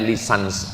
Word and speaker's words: licence: Bahasa bahasa Inggris cara membacanya lisans.